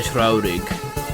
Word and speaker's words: traurig: De Traurig is how you would pronounce it.